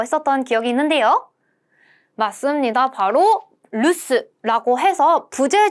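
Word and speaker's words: 留守: 바로 루스라고 해서 부제 중 집에 아무도 없음이라는 단어를 단어였었죠. 서 머무를 류자에 지킬 수 루스라고 읽는다.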